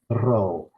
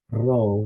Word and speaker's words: Rho: Rho has a R, an R sound. So if you can't roll your R's, you can just you can pronounce it as an R. But try to roll it. R, rho. And the guttural RH. Rho.